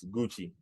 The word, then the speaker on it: Guchi: here with also name pronounce the way it is spelled Gucci g-u-c-h-i so that's how